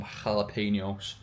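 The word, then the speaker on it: jalapeños: I've got 200 grams of beef mince, some barbecue sauce, some peas, and some jalapenos, which is how you pronounce it if you were Espanol.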